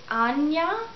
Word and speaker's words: Ajna: for this particular chakra, it's written as Ajna, A-J-N-A. Some people pronounce it Anya. If you don't want to pronounce the J as a J, but rather as an I, there's different ways to pronounce it. So whatever feels right to you, go ahead and pronounce it however you'd like.